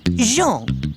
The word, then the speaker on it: Jean: separated John Thomas eh no Jean with a soft J Well jean Tomar with